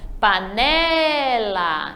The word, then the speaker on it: panela: Se eu preciso pronunciar, então eu vou chamar a palavra panela. Então, o né é a sílaba forte.